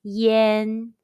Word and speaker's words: yan: or consonant it is spelled as y-a-n and pronounced yen yen means smoke in chinese pronunciation exercise for